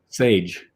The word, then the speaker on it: Sadge: How do you pronounce it? Sage. That's what I thought at first, and then I thought, well, it's spelled like badge. I wonder if it's badge. I mean Sadge. Right. So it's Sage, right.